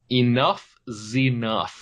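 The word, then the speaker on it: Enuff Z'Nuff: All right, my number 5 is Enough Zenuff. Ooh, nice. Which is great band. That's spelled ENUFF. Mm-hmm. Next word, capital Z apostrophe NUFF. So literally Enough Zenuff.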